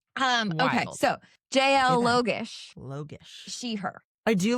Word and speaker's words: Logosz: It is Okay, pronounced Logosz.